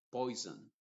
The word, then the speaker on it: poison: S más otra vocal, la S se pronuncia con una Z que yo le llamo la Z inglesa, que lo vamos a ver después. Se va a decir cousin, museum, poison.